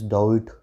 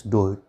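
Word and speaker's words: Daudet: Somebody would say that is Douhet, and but actually pronunciation is Douhet.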